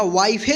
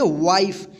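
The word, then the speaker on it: wife: आई उच्चारण करेंगे और इस इ का उच्चारण नहीं होगा। इसको विफे या वाईफे नहीं पढ़ेंगे। क्या पढ़ेंगे? वाइफ।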